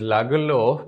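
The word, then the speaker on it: Lagerlöf: rat trap by selma lagerloff so here i'm pronouncing this word as laguelo because she is a swedish writer and that's why this pronunciation the theme of this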